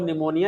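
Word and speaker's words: pneumonia: भी याद रखने में प फॉर निमोनिया यानी निमोनिया हिंदी में तो ना से बनाते हैं लेकिन इंग्लिश में पी आएगा प साइलेंट उसम अपन देखते हैं जब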